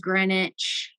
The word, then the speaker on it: Greenwich: So there's been an ongoing theme on this trip about how you pronounce things here versus how they're spelled. Because like Greenwich is Greenwich.